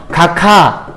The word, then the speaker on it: 각하: 축약의 대표적인 사례는 기역 플러스 히읗이 키읔되는 거. 예를 들면 각하 이런 단어가 있을 거예요. 각하 이렇게 우리가 발음하죠.